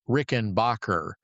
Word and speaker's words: Rickenbacker: He was of Swiss heritage, and his last name was originally Rickenbacker. Bacher, but he changed it to Backer and changed the pronunciation of it.